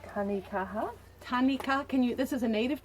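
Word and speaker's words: tanekaha: New Zealand tree called tanikaha. Tanika. This is a native tree. Can you spell that? T-A-N-E or T-A, T-A-N-E-K-A-H-A, as in strength, Māori for strength.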